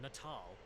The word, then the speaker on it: Natal: your children in the head oh wait it's pronounced natal was the dumbest thing I've ever heard I